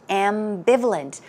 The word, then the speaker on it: ambivalent: was the word ambivalent ambivalent notice that the stress goes right here on the second syllable and some synonyms are